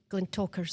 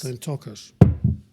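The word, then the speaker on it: Glentauchers: G L E N T A U C H E R Glen Talkers. Glen Talkers.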